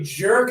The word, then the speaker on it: jerk: If you don't pronounce it right, you're going to accidentally say a jock and that means a sports fanatic.